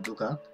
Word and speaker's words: 누각: 뇌성, 루각이 아니라 누각, 릉묘가 아니라 능묘입니다. 그러니까 지금 들어보시면은 발음을 할 수 없는 건 아니에요.